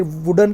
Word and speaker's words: vide: विडे, इसका उच्चारण है विडे, VIDE।